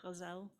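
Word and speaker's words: ghazal: love with the uh American English people would say just the guzzle uh a poor poorer Arabic pronunciation might be the gazelle it's a poetic form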